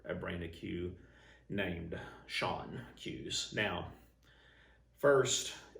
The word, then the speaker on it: Schon: brand of cue named Schon Cues. Now, first, it's technically not pronounced Sean, but that's how we pronounced it all over the country in the late 80s,